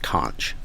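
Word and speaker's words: xonsh: a play on words the X is actually the Greek character kai and so that's why it's pronounced conch so conch is actually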